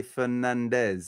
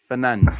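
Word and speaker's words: Fernandes: So that's Fernange, but English do always say Fernandez like if he was like he was Spanish. So with a zed is Fernandez and with a S is Fernanch.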